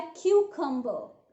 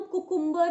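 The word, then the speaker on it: cucumber: इसका सही प्रोनाउंसिएशन है क्यूकम्बर। इसको हम कुकुम्बर या ककम्बर नहीं बोलेंगे।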